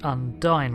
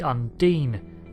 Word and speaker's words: Undine: the game that being Undine yes I pronounced it undying repeatedly even though it's supposed to be Undine and the reason for that